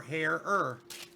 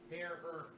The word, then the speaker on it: Herer: And he's the one that said, Herer. And I'm like, oh, that's easy enough to remember. Herer. Okay. He says that's what Jack used to tell people to pronounce his name.